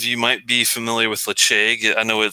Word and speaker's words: Ledaig: uh some of you might be familiar with leche i know it says l-e-d-a-i-g but it's pronounced lache and uh scottish gaelic and the actual distillery